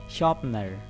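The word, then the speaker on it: sharpener: ये इसका आर आपने नहीं पढ़ना, ये साइलेंट है, शार्पनर।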